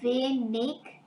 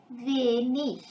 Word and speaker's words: wenig: But I have mentioned that words ending with ig can be pronounced ig, so wenig, or ich, wenig.